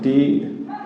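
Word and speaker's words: two: যেমন আমরা যদি লিখি এখানে টি ডাব্লিউ ও, কি বলি? টু বলি, টু বা টু, তাহলে এর অর্থ কি? দুই। এখানে কিন্তু ডাব্লিউ এর উচ্চারণ হয়নি, টিও টু।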